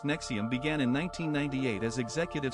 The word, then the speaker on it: NXIVM: Nxivm, pronounced Nexium, began in 1998 as Executive Success Programs, a self-improvement company based in Albany, New York.